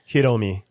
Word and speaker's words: Hiromi: Hiromi. Hiromi. Yeah, Hiromi. they don't have a hard R.